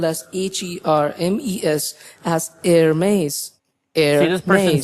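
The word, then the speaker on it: Hermès: We are looking at how to pronounce the name of this French brand. In French, it is said as Hermes. Hermes. It'd be fine in English to say it as Hermes.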